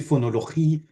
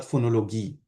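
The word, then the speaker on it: fonologie: It shouldn't be gi but chi, but it doesn't really matter for this. So it's actually phonologie, not phonologie.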